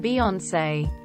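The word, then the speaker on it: Beyoncé: reason they've decided to not pronounce the e in Beyonce drives me crazy it's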